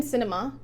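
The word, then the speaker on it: Sinema: democrats him and kirsten cinema yeah i don't get any ideas her name is cinema it's spelled with with the s they are not in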